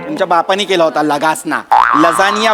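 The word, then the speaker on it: lasagna: दिवशी आपण हा खाऊया लगासना खाऊया लगासना तुमच्या बापानी केला होता लगासना लजानिया बोलता येत नाही स्पेलिंग वाचून लगाना बोलता तुम्ही तुमच्या बापाने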